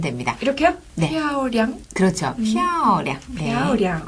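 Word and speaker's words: 漂亮: 예쁘다라는 발음은 피아오량이라고 하는데요 표양이 아니라 피아오 예 피아오 피아오량 예 피아오량 그렇죠 피오는 위에서 아래로 강하게 내리시고은 짧고 약하게 발음하시면 됩니다 이렇게요 피아오량 그렇죠 피아오량네 피아오량 어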